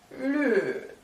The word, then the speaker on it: 绿: And green in Mandarin is Pour dire vert, c'est le. Avec l'accent qui descend comme ça.